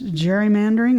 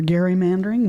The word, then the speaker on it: gerrymandering: That's gerrymandering or gerrymandering, whichever way you want to talk about it.